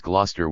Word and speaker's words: Gloucester: of one as in one pronounces glester with two syllables even though it looks like it should have three although the pronunciation of